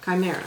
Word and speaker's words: Chimera: word how do you say that word Oh chimera ok mount chimera it is a mysterious methane